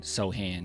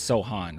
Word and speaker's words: Sohan: have that Sohan right sorry I always say it wrong I think I've gotten so used to saying soan it's Sohan right Sohan looking like it's